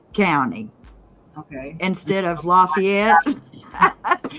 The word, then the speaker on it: Lafayette: laugh they call it lafayet County okay instead of Lafayette they call it lafayet County that's like you